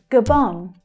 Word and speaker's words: Gabon: Gabon, Gabon. The second syllable there is the stressed one. The first one reduces to the schwa, g, g.